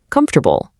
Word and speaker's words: comfortable: Comfortable gives us four clunky, totally separated parts. Basically, because that's exactly how it looks on paper. But spoken English absolutely loves efficiency. So, we squeeze it all down into a super smooth three syllable glide.